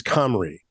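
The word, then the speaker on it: Cymru: up pronouncers for Camry because it's C ym ruu and it's well actually it's cry okay right anyway the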